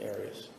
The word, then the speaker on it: Aras: Have you always pronounced it Aras? I've heard it pronounced about seven different ways. Um, I say Aras, as does the rest of my family.